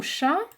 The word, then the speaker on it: chat: Le mot chat. Le mot chat a une lettre muette également. D'accord? Chat, c'est C-H-A. Hein? Le T ne se lit pas.